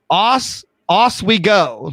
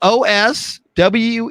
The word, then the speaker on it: Oswego: So it was Oswego, like in Oswego. Oswego, New York. Oswego? I know. Osweego is how she's pronouncing it.